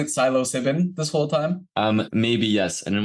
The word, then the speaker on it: psilocybin: That kind of psilocybin helps silence what's called the default mode network.